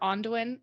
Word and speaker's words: Aundayn: So you can find me anywhere under Ondayn, AUNDAYN, or as Nolan likes to pronounce it, Ondayn.